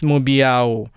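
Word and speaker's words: 目标: sound of the word, which is mubiao, falling tone on mu, and first tone, which doesn't go up or down but remains steady, on biao. So how do you learn this while incorporating the tone?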